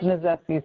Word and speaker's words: Knizeski: Correct, and it's pronounced Nizeski, silent K.